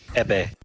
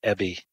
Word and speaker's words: Ebbe: is it pronounced Ebbe? Yeah, or Ebbe? Ebbe. Although here in the US it becomes a lot of Ebbe.